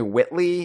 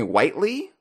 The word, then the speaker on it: Whitley: I thought it was Jeremy Whitley. It's Jeremy Whiteley. Is that right? Yeah, you were wrong, and that's the correct way.